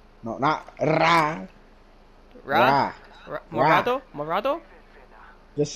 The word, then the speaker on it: morado: Rojo, Naranja, Amarillo, Verde, Azul, Morando. Did I say it correctly? What was it? Rojo, Naranja, Amarillo, Verde, Azul, Morando. Morado!